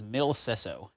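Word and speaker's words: Mille Seseau: But I believe the correct pronunciation is Mil Sesso.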